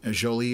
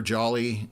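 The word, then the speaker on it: Jolys: Pierre, Jolie or Jolly, depending how you pronounce it.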